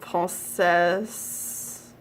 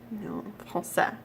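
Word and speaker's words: français: for French it's not pulses pulsa S is silent when you do have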